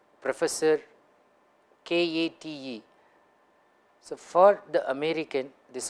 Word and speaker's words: Kate: three names like Professor Kate. So for the American, this will be Kate, whereas you know that it's an Indian name, typical Maharashtrian name. So according to that regional variation, it's Kate, not Kate.